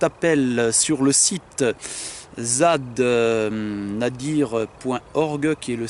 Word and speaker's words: nadir: sur le site zad nadir point horgen à dire comme ça se prononce n a d ir on relira aujourd'hui toutes